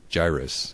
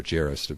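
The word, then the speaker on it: Jairus: And that's what God told um Gyrus or Jerus I guess depending on kind of you pronounce it there in Mark 5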